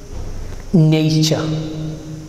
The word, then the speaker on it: nature: Look at the letter T or T, right? How is it pronounced? Ch. Nature.